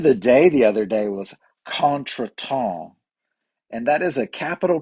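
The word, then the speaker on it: contretemps: word of the day the other day was conton and that is a capital k a n apostrophe this is the pronunciation so k a n where the emphasis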